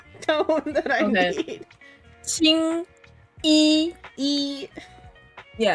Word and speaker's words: Qingyi: Qingyi. Yeah, it's the right word, but if you say Jingyi, it means semen. Okay. Qingyi.